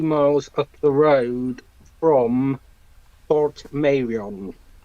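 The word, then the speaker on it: Portmeirion: I have, and I actually grew up in a village literally about 2 miles up the road from Port Merion. Port Merion.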